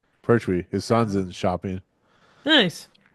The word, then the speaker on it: Pertwee: Pertwee. Pertwee.